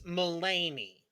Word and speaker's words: Mulaney: Pronounced John Mulaney. Yeah, it's Mulaney. Oh, John Mulaney.